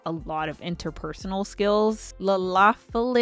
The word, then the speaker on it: Lalafell: but I also have a tendency to pronounce Lalafell like Lalafell.